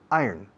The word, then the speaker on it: iron: Se escribe iron, se pronuncia iron.